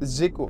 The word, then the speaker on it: Zelko: Géco, voilà, c'est Géco. Ça s'écrit Zelko, mais on dit Géco.